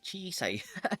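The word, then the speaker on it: 小さい: own it's basically uh uh uh chi Chi chisai yeah oh man I was like it was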